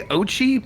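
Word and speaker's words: Oatchi: I'm pronouncing that right I think it's I say Ochi but o-a-t yeah oh Chi Ochi probably works better yeah do I want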